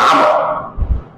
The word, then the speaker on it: আমর: আমর, মানে ওমর, উচ্চারণ আমর।